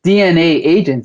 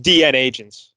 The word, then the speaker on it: DNAgents: you're mispronouncing the title it's not dna agents it's yeah yeah yeah yeah right there i did mispronounce it right there oh yeah it's just dn agents right just like batman